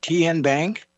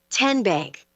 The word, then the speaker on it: TN Bank: How do you say the name? TN Bank. Nope. Tin Bank. Uh-uh. So, what is it? Ten Bank. 10 as in Tennessee.